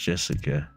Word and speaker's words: Jessica: Anyway, it's pronounced Jessica.